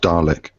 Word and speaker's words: Dalek: Sorry, it's just pronounced Dalek. Dalek. Okay. Sorry. Thank you. Dalek as in Darling.